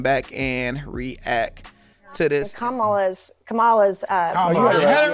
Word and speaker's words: Kamala: running for president I thought it always was Cala Harris now once she said it it's Kamala Harris so I'm with it now we about